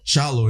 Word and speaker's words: Kyallo: It's pronounced Challo Kialo.